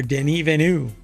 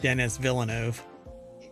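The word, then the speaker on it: Denis Villeneuve: there's an entire phrase here that's missing director Den venu that is apparently how you pronounce his name or he pronounces his name or you're supposed to pronounce his name not Dennis Villano didn't evenu um believes Blade Runner 2049 could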